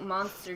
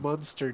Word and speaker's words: Munster: When I think of quote-unquote monster cheese, it makes me think of Hotel Transylvania, the screaming cheese. It's pronounced Munster Cheese, not Monster Cheese.